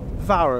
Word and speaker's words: Fawr: Welsh name is Oh spirit the why is pronounces our earth the rest is quite easy earth gear read VAR o 1f is a VAR sound we've been